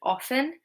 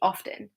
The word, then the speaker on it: often: Traditionally, people pronounce this word often, and that was with a silent T, and that was the correct way to pronounce this word. But over time, people started to pronounce the T and say often.